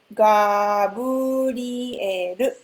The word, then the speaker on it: ガブリエル: But so Gabriel, that's how we say it. It's very different from English.